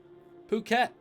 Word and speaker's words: Phuket: at 46 seconds for the first time ever phuket that's how you pronounce that don't pronounce it wrong is both